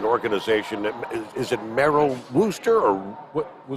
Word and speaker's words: Worcester: For those who may not be familiar with Wreaths Across America, it's an organization that, is it Merrill Wooster or? Worcester.